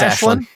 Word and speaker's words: Aislinn: I believe it's supposed to be It's Ashlyn.